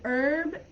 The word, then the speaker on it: herb: In herb, the H isn't pronounced in American English.